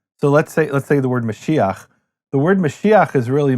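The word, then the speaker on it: משיח: So, let’s take the word Mashiach. The word Mashiach is really Meshich, but it's hard to say Meshich, so they add an “a” to make it Mashi-ach, or Mashi-yach in certain dialects.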